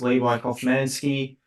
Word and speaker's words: Levi Kofmansky: So yes, my name is Levi, or otherwise pronounced as Levi Kofmansky.